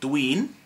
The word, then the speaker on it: dwi'n: Repeat after me and say dwi'n, as in duh with a dwi'n, which means I am.